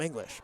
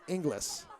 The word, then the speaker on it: Englis: I'm tempted to call him English, but it's Inglis, E-N-G-L-I-S.